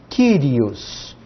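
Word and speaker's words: κύριος: Primeiro aparece um K. Depois, olha só, aparece um Y. Atenção, aqui ele está na sílaba junto com o K. Está com consoante, nós transliteramos como Y. Ki. Depois um Rho, R, Iota, O e S.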